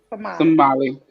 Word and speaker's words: Somali: you say it too they do not say somalian they say somali so somali tamales are